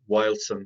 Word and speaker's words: Wyldsson: And I generally reference at this stage, there's a food company in Tala called Wildson, that's spelled WYLDSSON.